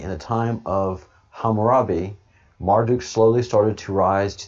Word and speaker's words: Marduk: form of his name the name marduk pronounced marthuk the entomology marthuk is